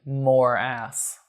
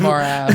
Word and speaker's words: Moerass: Well, it's spelled Moerass. MOE. It's spelled literally more ass. Not You've just MORE. You've moved the R and the E essentially. MOERAS. More ass. Yeah, more ass. Whatever. Anyways, morass. As in a morass.